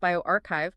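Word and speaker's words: bioRxiv: It's on bioherve that's pronounced bioarchchive posted August 6th 2025 from Mishra Kim Yom and colleagues at Yale School of Medicine.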